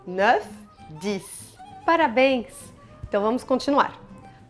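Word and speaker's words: neuf: 9. Tem que pronunciar o F no final e o som é meio aberto, assim, ó. 9.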